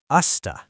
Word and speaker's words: used to: In natural spoken English, native speakers rarely pronounce used to clearly. True. It often sounds like usta.